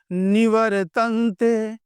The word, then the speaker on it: निवर्तते: क्या है यतो वाचो निवर्तते पढ़ने का प्रयास कीजिए निवतते र कहीं दिख रहा है आपको निवर तो यहां का ये रेफ जो है ये रेफ इसका उच्चारण होता है र तो नी वर नी